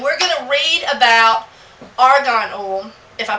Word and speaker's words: argan: we would read about Argan o I hope I'm pronouncing it right a r g n um I I was calling it Afghan oil for a while I don't I'm dyslexic